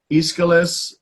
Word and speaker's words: Aeschylus: me these are ancient Greek writers so it's Aeschylus Sophocles and Euripides okay so they were playwrights